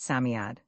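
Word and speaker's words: Psammead: Sami is pronounced Samiad.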